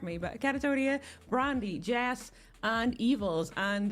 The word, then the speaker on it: Kattatonia: But Kattatonia, Brandy, Jess, and Evils. And Katta, have I saying that right, by the way? Because I've actually always said that. Kattatonia, yeah, I think you say it right.